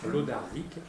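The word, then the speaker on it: Wlodarczyk: Alors, je m'appelle Lodarczyk, ça s'écrit W-L-O-D-A-R-C-Z-Y-K.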